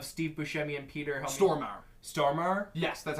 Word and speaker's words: Stormare: bumbling idiots of Steve Buscemi and Peter Stormare stormer yes that's how you say his name it's